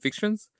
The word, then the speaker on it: Fictions: So Borges Fiction, pronounce it in French, right? Fictions. Which is, I believe an